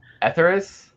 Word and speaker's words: Etheres: Comics talk tonight we have the artist on etheris am I saying it correctly first of all no etheris yes very good I've been trying to figure